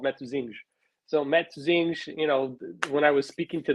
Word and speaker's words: Matosinhos: So Matosinhos, when I was speaking to the guy last night, I'm like, my Portuguese is really rough. He's like, but your pronunciation of where you live is so perfect.